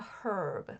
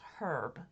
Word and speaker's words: herb: And that's why he says it's herb, because there's a fucking H in it. Because the Brits say herb.